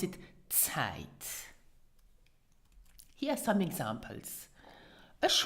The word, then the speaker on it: Zeit: So pronounce it Zeit.